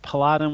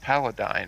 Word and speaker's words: paladin: I think it's pronounced paladine, isn't it? Paladin. I always say paladin. I've never heard paladine. That sounds weird to me.